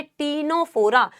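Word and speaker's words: Ctenophora: नाइडे सी silent है इसका pronunciation है टीनोफोरा सी साइलेंट है बेटा सी साइलेंट ही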